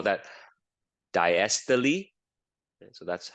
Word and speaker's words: diastole: We call that diastole. So that's how you pronounce it. Systole and diastole.